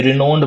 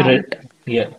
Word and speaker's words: renowned: या फिर आपने जैसे बोला कि ये रिनाउंड की प्रोनाउंसिएशन आपने रिनोन्ड बोला, रिनाउंड, इट हैज टू बी Renowned.